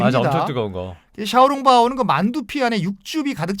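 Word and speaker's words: 小笼包: 처음 먹을 곳은 그 우리 발음은 소룡포 고 그 샤오롱바오 라바 하죠 날 달 자야죠 뭐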